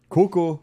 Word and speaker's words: coucou: Coucou. Coucou. That one's easy, Coucou. brother. Coucou. So here again, we pronounce everything. O and U together are pronounced ou. Coucou.